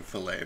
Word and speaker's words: filet: the fellow no uh unless you're just mispronouncing filet but i think for at least two reasons you wouldn't i like fillets yes because i think i don't know what a silent t is you neanderthal that's